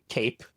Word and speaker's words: CAEP: continuous access evaluation protocol I got it right Cape is how we pronounce it C I want to take a